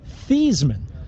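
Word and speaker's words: Theismann: now did you know Theisman actually pronounced his name theseman until Notre Dame publicity man Roger valdassari suggested that they changed the pronunciation to rhyme with Heisman true story wow pretty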